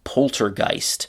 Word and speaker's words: poltergeist: that's very strange is poltergeist. So polter means something like torture or bother and gist is um a uh ghost or spirit. You can hear gist ghost pretty similar to each other.